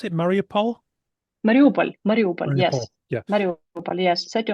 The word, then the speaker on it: Mariupol: And there's a particular example that stood out, and it was how do I pronounce it? Mariupol? Mariupol, yes.